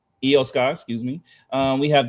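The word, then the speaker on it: Iyo Sky: Um Eio Sky, excuse me.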